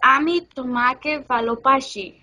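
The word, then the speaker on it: আমি তোমাকে ভালোবাসি: Okay, so Ami Tomake Valopashi.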